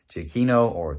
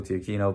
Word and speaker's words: Giacchino: The music by Giacchino, people pronounce it differently, Michael Giacchino, but that was a great score that really